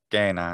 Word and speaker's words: cena: So if Italians hear me or anyone using that pronunciation system saying for dinner, saying gena instead of cena, they freak out and they're like, you're doing it wrong.